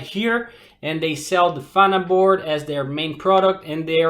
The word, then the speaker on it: Vanaboard: And they started a company that's called Vanaboard, right? Is the pronunciation correct, guys? We think so. Yeah. Vanaboard, yeah.